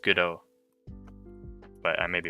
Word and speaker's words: Godot: but it's pretty good apparently godot is pronounced go dot as in robot i think it's pronounced good oh but i may be